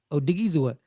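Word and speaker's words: Odighizuwa: spell his last name because I had to spell it on Sunday it's o d i g h i z u w a oh digizer so like like they're showing up like you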